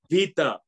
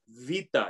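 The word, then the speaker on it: βήτα: It's Vita, okay? Vita. It's not hard to say. Vita.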